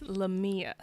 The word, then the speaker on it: Lamia: Before I start, I actually need to know, is it LaMia or LaMia? It's LaMia. Okay, so I said it right the first time.